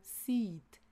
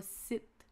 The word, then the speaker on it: seat: Attention à la prononciation du mot seat. S e a t qui se prononce avec un long i se et non pas sit qui veut dire s'asseoir aussi.